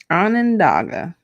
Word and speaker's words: Onondaga: Onondaga.